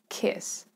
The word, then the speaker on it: kiss: Word kiss has a short vowel in the middle, I, kiss, kiss. And it has non-voiced S, kiss, kiss. So it's a quick, low word. You pronounce it kind of low in your mouth.